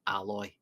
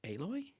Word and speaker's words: Aloy: Which PlayStation game features a protagonist named Aloy?